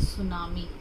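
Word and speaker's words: tsunami: मैं इसको बोलते हैं सुनामी और सीरियल नंबर 2 सुनाओ मी द सुनामी अब आप पूछोगे मैडम आपने यहां पर टीम लिखा है यह तीन सुनामी होता है ठीक ऑलवेज रीमें साइलेंट साइलेंस ओं हो चुके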